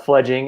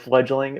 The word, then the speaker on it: Fledging: Fledging is what we are. A lot of people go with fledgling.